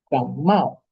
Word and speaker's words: 感冒: Gamao. Ese mao. Hay que hacer ese descenso fuerte.